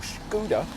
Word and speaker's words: Skoda: this is the scoda or scoa as they like to pronounce it these days enyak IV